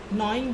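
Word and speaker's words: gnawing: नॉइंग the food, इसमें जी silent है।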